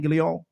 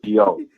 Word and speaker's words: Guillaume: Ain't that how you say his name, Guillaume? Benson. You did good. You did pretty good, Guillaume.